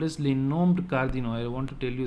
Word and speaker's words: cardinaux: Should I pronounce the X? No, so I have to stop with U here.